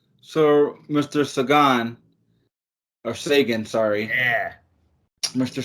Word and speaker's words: Segan: podcast you're listening to sagan not segon not see and a lot of people want to say a lot of different things about the way my last name is pronounced but i'm going to tell you one way is pronounced that's the correct way and that is sagan in your ears right